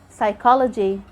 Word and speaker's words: psychology: we have letter p the p is silent when is followed by an s at the beginning of a word like when you say psychology psychiatrist psychic letter s